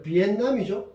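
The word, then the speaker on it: Việt Nam: 자, 여러분들 나중에 주변에서 이거 베트남이 아니라 비엔남이죠. 베트남 학생들 어떻습니까? 발음이 원래 베트남에 이제 비엣 민족이 수십 개 아주 많은 민족이죠. 우리하고는 좀 다르게 비엣 쪽이 제일 많아요. 그래서 이제 비엔남이라는 말이 생겼는데 비엔남 빨리 읽으면 베트남이죠.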